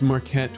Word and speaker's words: Marquette: were in prison so do you spell that like market but you pronounce it all fancy uh it's marquette with um with the with the french yeah with the qu okay cool well grace